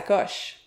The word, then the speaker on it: coche: Qu'est-ce que ça veut dire péter sa coche?